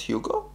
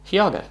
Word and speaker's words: Hiago: Not Hugo? Hiago. Hiago? That's how you pronounce his name? How do you pronounce your name? Hiago or Hugo? H-I-A-G-O. It's not Hugo. That's H-U-G-O. Hiago.